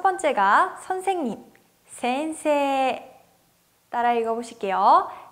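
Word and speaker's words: 先生: 센세이. 따라 읽어보실게요. 센세이. 네, 원래 히라가나 발음은 어떻게 되죠? 센세이인데 세와 이, 즉 에단과 이단이 만나서 앞에 있는 세 발음을 길게 발음했었어요. 그래서 센세라고 발음하고요.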